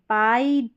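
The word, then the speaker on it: pie: अब ऐसे पढ़ दे कि पी टी डी ली ऐसे नहीं। पाई टाई डाई लाई।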